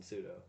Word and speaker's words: pseudo: So that'd be a sneaky P on pseudo.